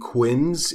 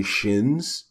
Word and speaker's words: Qin: sighs shin sighs see I looked up the pronunciation apparently quinn's is actually shins mmm you don't say how I've been saying